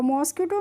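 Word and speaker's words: mosquito: तो इसको क्या पढ़ाएंगे मस् क्यूटो पढ़ेंगे और मॉस्किटो मींस क्या होता है जानते ही होंगे आप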